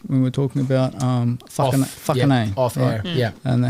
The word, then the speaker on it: Whakanei: One is obviously the pronunciation of words in the reo. So, Whakanei, if you can't pronounce Māori, I had a lot of people look and they're like, Whakanei, just over their head.